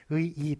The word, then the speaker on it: 의의: 자 얘를 보시겠습니다 의의와 의의 단어 뒤에 나오니까 2로 소리가 날 수 있죠 그렇지만 적어주는 건 의의로 그렇게 원래 의이니까 한자로 의이네요 그래서 의의로 그렇게 적어 줘야 된다는 겁니다 발음은 뒤에 걸로 할 수 있어요 발음을 앞에 걸렸을 수도 있고 뒤에 걸로 할 수도 있습니다 의의와 의이 둘 다 맞아요 그렇지만 쓰는 것만큼은 의의로